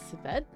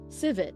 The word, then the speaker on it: civet: Civet? Everybody Google what a civet looks like right now.